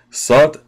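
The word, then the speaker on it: סוד: stories or similar stories sod pronounced with a long o you know sword as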